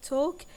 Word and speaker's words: talk: here we have the verb talk and the silent L and here we have